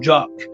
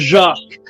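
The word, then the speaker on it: Jacques: I I I however I don't like the way you say my name jock because jock is something that goes between the legs and it's like a jock ja and my name is jacqu but it's okay since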